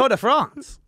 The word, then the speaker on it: Tour de France: But I thought it's the Tour de France.